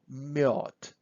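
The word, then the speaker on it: мёд: then we have to we just put two dots about a and we say miod so this is honey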